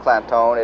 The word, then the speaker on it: Clanton: And while Clantone is pronounced Clantone, it is actually spelled C-L-A-N-T-O-N, but they put the emphasis on making it sound Clantone.